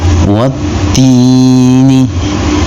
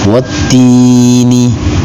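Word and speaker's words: والتين: Wattini. Di sini ada hukum bacaan namanya alif lam syamsiah. Sebab ada alif lam yang menghadapi huruf syamsiah yaitu huruf ta. Maka cara bacanya alif lamnya diidghamkan atau dilebur. Wattini.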